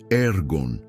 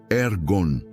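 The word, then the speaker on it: ἔργον: com propósito, podemos olhar para a palavra grega ergon. Se pronuncia ergon. Ergon. é frequentemente traduzida como trabalho ou obras, mas seu significado é mais profundo do que o simples labor. Ergon é o trabalho que produz um resultado.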